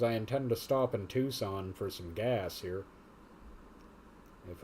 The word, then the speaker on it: Tucson: It's Tucson. Tucson or bust. Or if I didn't know it was actually pronounced Tucson, Tucson.